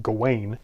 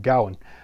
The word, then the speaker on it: Gawain: the greatest knight, and Sir Gawain, or frequently in America pronounced Gawain, but I'm going to try to stay closer to the Welsh, at least the modern Welsh pronunciation of Gawain.